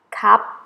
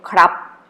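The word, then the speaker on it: ครับ: time foreigner hard type people say cup without rudder or our sound instead of saying crap are you hurt I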